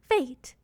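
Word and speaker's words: fetes: Fate. It's pronounced like fate, as in you can't escape your fate, but it's a type of party.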